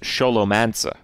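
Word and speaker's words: Scholomance: says it wrong no in english it's definitely scolomance in english but the original word is sholomansa all right when you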